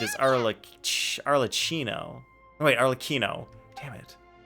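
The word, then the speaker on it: Arlecchino: Arlo arlochino oh wait Arlo Kino damn it there are two ways to pronounce it like one is Italian and one is something else it's Arla Kino even a makeup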